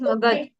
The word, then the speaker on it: Magadha: Magadha We call was it Magad. We pronounce it as Magad.